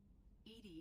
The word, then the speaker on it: EDI: why are you named ed ed is the phonetic pronunciation of Ed I that is an acronym